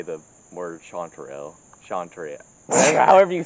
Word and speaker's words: chanterelle: explain to the viewers how you say that shantur l chanterelle yes clearly someone has problems with english shawn trio chanterelle chanterelle montreal isn't that a city in canada